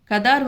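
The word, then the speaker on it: Ghadar: கதார் வந்து அதாவது காதர் அல்லது கதார் எப்படி வேணாலும் ப்ரொனவுன்ஸ் பண்ணிக்கலாம்.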